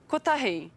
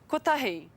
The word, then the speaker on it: kotahi: Kotahi. 1. Kotahi.